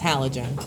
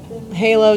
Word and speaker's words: halogen: That's not even how you pronounce this word. It's halogen. If you want to talk about halo, do it outside of my class.